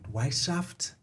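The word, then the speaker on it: Weishaupt: uh Professor Adam uh his last name white white shaft y okay uh I'll spell it w e i s h a u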